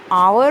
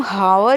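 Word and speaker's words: hour: आवर और honest हम हावर या होनेस्ट नहीं बोलते। अगर है का प्रोनाउंसिएशन होता तो ए लगता यहाँ पर, लेकिन प्रोनाउंसिएशन क्या है हमारा वोवल वाला है, मात्रा वाला है। आवर आ और ऑनेस्ट ओ, इसीलिए यहाँ पर एन का यूज़ हुआ।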